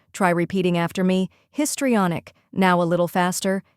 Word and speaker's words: histrionic: down first we have his which sounds just like the word his in this next is tree pronounced like the word tree then comes on which